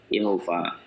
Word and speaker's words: Yehova: ada yang ada itu yhwh atau Yehova sebenarnya bacanya itu Yehova nah pertanyaan nya apakah